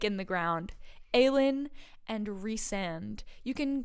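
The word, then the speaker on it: Rhysand: is reand that's it reand like Reese's pces and Reese and not rice and it's it's I'm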